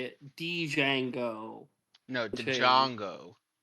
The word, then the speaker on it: Django: say it Django no Django D jongo the Django fit actually the the D is silent because D Jango says